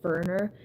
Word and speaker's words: Werner: The other POV is Werner Fenning, and also, like, it's a little weird, because Werner has a W, so you might think it's Werner, but it's Werner, and then Fenning, and there's